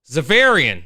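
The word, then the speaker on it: Xaverian: I always screw up pronouncing this name, but it's God. Is it Xavier? Zavarian. Zavarian.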